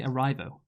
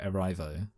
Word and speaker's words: Erivo: Why did you say Arrivo? What letter does her name? It's Erivo. Yeah. Erivo. Does her name start with an A? No, I just like because I'm thinking of the word arrive, but yeah, okay.